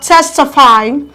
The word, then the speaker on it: testify: a lot of stress we have testify coming from the back one two three your tests receive the loudest stress we have rectify counted